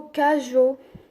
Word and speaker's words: cageots: a voilà quelques exemples tu as par exemple le mot cageots tu vois qu'à jour j'ai eu au thé attention il ne faut pas prononcer le thé finale d'accord cageots maintenant la